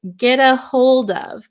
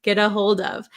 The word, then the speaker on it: get a hold of: so when Americans pronounce get a hold of get a hold of maybe you notice this T sound sounds more like a D sound d d instead of